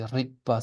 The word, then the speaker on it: rigpa: That's why sometimes when people write in Latin letters, they would say Rickpa sometimes with a K, because that's more accurate pronunciation, but it can be confusing in terms of meaning.